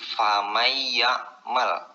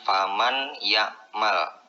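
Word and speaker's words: فمن يعمل: hukum tajwid idgham bighunnah dibacanya itu jangan faman yang Mall Hai tetapi bacanya itu harus dirubah menjadi famayakmal karena disitu ada hukum tajwid ada nun mati bertemu dengan huruf ya dibacanya famai yakmal bukan Paman yakmal biasanya hukum idghom itu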